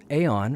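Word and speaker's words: Aion: Aeon, or Ion, however you want to pronounce it, is my all-time favorite PvP-based game.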